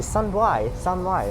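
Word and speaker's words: San Wai: Because it's pronounced as sun, but it's San Y actually. Sun Y like that.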